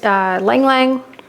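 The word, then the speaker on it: ylang-ylang: I chose Lang Lang. Is that how you say it? I don't know. Y-L-A-N-G, Y-L-A-N-G. I call it Lang Lang.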